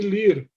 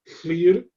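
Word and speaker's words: Llŷr: seriam o clã de Lir, que seria o mesmo Lir da, De uma da tribo? Irlanda, aham, que seria o pai de Manannan, né? E no país de Gales, a pronúncia seria mais Flir, e ali ele teria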